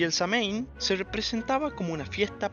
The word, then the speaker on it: Samhain: más de 3000 años conocido como Samhain o también pronunciado como Samhain y traducido del irlandés antiguo significa fin de verano.